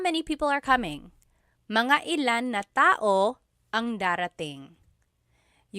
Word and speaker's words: mga ilan: Okay, so again, that glottal stop is important for proper pronunciation because they mean different things otherwise. And lastly, mga ilan means about how many.